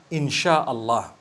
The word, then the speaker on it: insyaAllah: They pronounce the SY the way we pronounce SH. So they can write it how they want, for as long as when people read it, they read it inshaAllah.